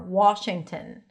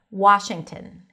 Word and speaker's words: Washington: Some people might round their lips a bit more. Washington. But you can just open it up. Washington.